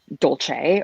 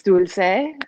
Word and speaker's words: Dulce: just completely confused or they go with the italian because desserts are you know pretty frequent dolce or dolce gabbana or whatever so it's dulce and um you know